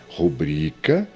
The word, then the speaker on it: rubrica: A palavra é rubrica.